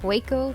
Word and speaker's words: Hueco: hey so this is waco tank state park and historic site according to the internet machine you pronounce it hueco tanks here you can